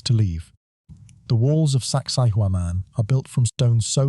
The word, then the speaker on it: Sacsayhuaman: Its name is Sacsayhuaman. Locals pronounce it closer to sexy woman, a joke that foreign visitors hear on every tour.